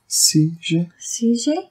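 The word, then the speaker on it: Seiji: CJ?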